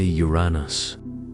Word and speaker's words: Uranus: Some say Uranus, others prefer y o r uh h nes. A few attempt the Greek like O- ra- n o s.